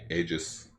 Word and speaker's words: Aegis: It's an E, but it's pronounced A. Yeah. Aegis.